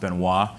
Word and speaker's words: Benoit: name is rich and the last name is pronounced Benoit the person in Chronicle